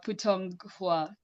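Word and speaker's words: 普通话: Cantonese, or excuse my pronunciation. Um, Lizzie, could you help me, please? Putong Hua. Yes. Oh, putang kwa.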